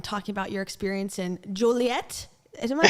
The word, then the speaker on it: Joliet: Well, thank you for making time and coming on and talking about your experience in Joilet. Am I saying it right? Yeah, Okay. Joliet.